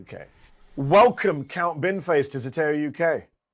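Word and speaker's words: Zeteo: Binface himself joins me here on Zateo UK. Welcome Count Binface to Zato UK.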